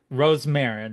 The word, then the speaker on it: Rosmarin: again I I I've always been able to pronounce it but not everybody has been able to Rose Marin right that is correct okay all right cool